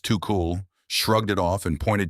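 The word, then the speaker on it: Tuchel: Thomas Tukul, pronounced too cool, shrugged it off and pointed to a 6 p.m.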